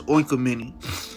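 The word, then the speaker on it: οἰκουμένη: let me look this word up yup it's oinka mini what you should mean yup the inhabited earth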